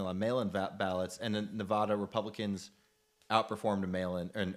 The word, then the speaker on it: Nevada: Nevada Nevada got it you're pronouncing it wrong now it's Nevada chat is gonna punch